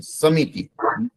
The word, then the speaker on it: समिति: समिति, मी जल्दी से बोल गए, टी जल्दी से बोल गए, इसका मतलब छोटी होगा, हर्षी बोलते हैं इसको।